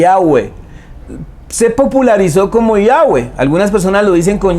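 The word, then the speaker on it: Yahveh: como una i y yagüe es como si fueran más bien cuatro vocales la y la a la uv y la e y yagüe y yagüe así se pronuncia ese nombre así se pronuncia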